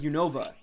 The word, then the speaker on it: Unova: it's very similar, but they pronounce it faster, so it's more like Unova region, but I pronounce it like Unova. Like, I really put emphasis on the Nova part of it, where I find most people don't, but I don't think